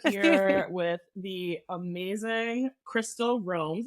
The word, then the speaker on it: Roames: with the amazing Crystal roams is that what you pronounce Joe's name yeah it's wrong some people say romez okay with the amazing